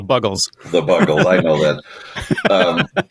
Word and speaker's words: Buggles: I know I'm saying it wrong, but I just always thought they were huge fans of the snack Bugles. Well, they weren't, because they're called the Buggles.